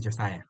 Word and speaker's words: Josiah: And as I said my name is Josiah once again that's the pronunciation.